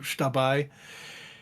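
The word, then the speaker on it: Xtabay: of Mayan origin, and X in Mayan is pronounced like an SH in English, so shtabai.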